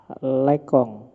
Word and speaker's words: Lacan: Roland bad yang ketiga lekong tulisane lacan tapi mocone lekong ya Baso Prancis ya Tapi bacanya enggak sambil